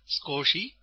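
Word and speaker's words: すこし: i and pronounced as scosi with the U silent scosi is the opposite of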